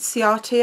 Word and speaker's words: Ciati: I pronounce it Ciati. I've heard it pronounced a few different ways, but I say Ciati.